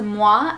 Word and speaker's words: Muwae: a company called Mah so you do say it as Mah as if you were giving a kiss but it is spelled